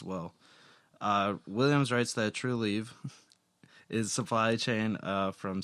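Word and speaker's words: Trulieve: one to say anyways spell it out t r u e l i e v e true leave true leave bad radio but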